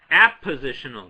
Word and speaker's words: appositional: It's not a commonly known word, and it's a tricky word because it sounds almost like you're saying oppositional, from opposites. These are not opposites. Appositional just means two things